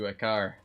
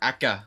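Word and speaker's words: Acre: Or Akka, as they say. As the assassins say, but the people who live there say Akar. That's how I learned to pronounce it, is because the guy in Akka or Akar says Akar, and the guys who in Masaif say Akka. Strange.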